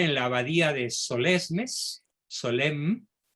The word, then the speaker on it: Solesmes: y un poeta surrealista rebelde reverby rebelde se pronuncia que fíjese ya converso se instala en la abadía de solesmes solem y se quedó ahí hasta su muerte en